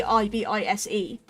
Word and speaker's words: ibis: Like with how that is spelled, there is absolutely nothing that says that I should be pronounced an E in that spelling. If it was pronounced as an E, then it would have to have an E on the end of the word. So it'd have to be I-B-I-S-E if it would be pronounced like that. Otherwise, it's just ibis.